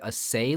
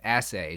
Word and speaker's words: assay: that I got was assay I think I've had this before but I think I pronounced it aay last time and I just looked it up I think it's actually pronounced asay so I'm going to